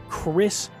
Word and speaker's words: Kris: That's the real name, that's how you spell it and say it, Kris blade.